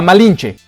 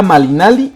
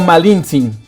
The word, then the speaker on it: Malinalli: españoles y aztecas la malinche fue su nombre mal pronunciado por los españoles en realidad era malinalli o malintzín dominaba el náhuatl el